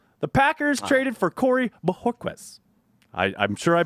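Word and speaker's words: Bojorquez: packers traded for corey bohoquez i i'm sure i butchered that but he did say the j is like an h so that's that's how i'm saying it i care courtney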